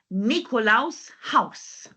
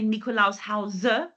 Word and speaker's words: Nikolaus Haus: Now, remember, we don't have the E at the end. So we don't say Nikolaus Hause like we have in English, Nikolaus Haus.